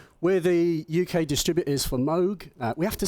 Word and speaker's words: Moog: around we've been corrected Bob always used to say Moog Bob introduced himself as Moog so I'm going to say that and if I say